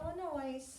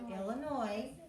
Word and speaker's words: Illinois: Don't say Illinois. The S is silent. You say Illinois.